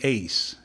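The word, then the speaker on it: εἰς: language of the Greek it is the word Ace it's spelled e i s okay and it has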